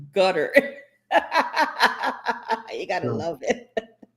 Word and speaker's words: Qatar: look at Harlan Garda said there's a place called Qatar. It's pronounced gutter.